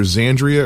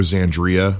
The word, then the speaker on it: Xandria: that's right as Andrea you pronounce X as a Z yeah it's it's either xandria or xandria but yeah it's perhaps